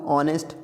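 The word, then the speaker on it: honest: पहले भी आया था ऑनेस्ट इसको एच साइलेंट है यहां पे हम ओ से पढ़ रहे हैं ऑनेस्ट मैन ही इज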